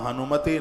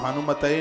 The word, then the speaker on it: हनुमते: उच्चारण करते हैं तो ओम हम हनुमते नमः वहां हनुमतेय नहीं आएगा नहीं तो त्रुटि हो जाएगी ओम हम हनुमते नमः